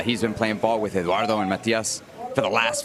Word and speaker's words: Eduardo: Can you roll your R's? Let me try. Eduardo Perez. Nice, even though you don't have to roll it on the Perez, but I like that you can.